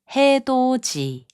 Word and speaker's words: 해돋이: 해돋이, which means sunrise, is pronounced as 해돋이.